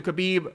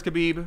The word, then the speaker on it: Khabib: very heavy favored towards khabib or habiba as some people have told me the K is silent and I think this